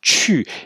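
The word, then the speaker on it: 去: Alors la partie droite, terre plus privé, signifie, c'est un caractère à part entière qui se prononce chu, et qui signifie aller.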